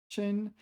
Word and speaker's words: 参: 人参, yeah, this is one of the rare times this is pronounced. Shen. The other one is 参差不齐, where it's 参.